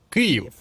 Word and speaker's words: Київ: Я ж правильно вимовив: Київ, бо вічно мене критикують за те, що вимовляю по-російськи. Київ.